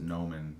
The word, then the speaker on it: gnomon: an interactive uh gnomin g-n-o-m-o-n they pronounce it nomen but it's basically this